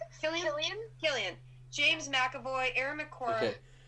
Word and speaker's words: Cillian: Cillian.